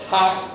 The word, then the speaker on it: half: here spelling technology don't pronounce letter l it's half or hops you know okay